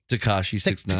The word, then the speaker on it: Tekashi 6ix9ine: Tekashi 6ix9ine.